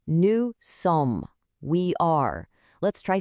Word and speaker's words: sommes: part of, it's nous sommes. We are. Let's try saying it. Nous sommes. And hey, notice that again? The S at the end of sommes is silent.